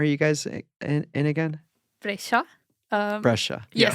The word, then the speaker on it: Brescia: Brescia. Yes. How do you spell that?